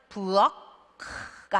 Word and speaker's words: 부엌: 터트리는 걸 하지 말아라요 그러면 부엌가 아니고 부엌에서 멈춰야 되는 거예요 그래서 소리 못